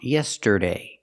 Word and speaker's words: yesterday: We don't pronounce the word yesterday, yesterday. It's pronounced yesterday. We need the sound like burger.